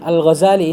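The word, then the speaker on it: الغزّالي: Baik, yang benarnya al-Ghazali ini ditasydid ya. Karena ada yang membaca di takhfif al-Ghazali, ada yang membacanya al-Ghazali.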